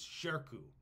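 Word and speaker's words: Shirkuh: is amazing and his name I want to pronounce it properly is sherku which is s uh s-h-i-r-k-u-h is how we spell it shirku is a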